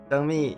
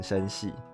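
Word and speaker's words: 生蜜: 抱歉，上次一直把你的名字念错，一直念成生系。后来看回放的时候我才想到这个字应该要念蜜才对。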